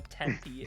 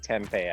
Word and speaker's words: Tempe: we are in the Tempe area. That seems like a mispronunciation. Like it should be like tempeh. I feel like It should. Like this- I agree. like the fermented soy food. Yeah, the food.